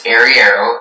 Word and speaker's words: arriero: So the word's only pronunciation is arriero.